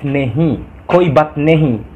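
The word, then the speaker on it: नहीं: Koi bat nehi. Tulisannya koi bat nahi, tapi bacanya koi bat nehi, itu artinya tidak apa-apa guys.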